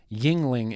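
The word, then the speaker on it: Yuengling: That tracks with the geographical areas that I've had Yingling in. Cody Hinkle says it's pronounced, Yingling.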